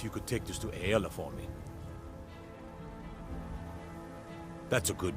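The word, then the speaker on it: Aela: could take this to aella for me that's a good man I did not know that's how you pronounce her name a e l a it aola what is it now if you wish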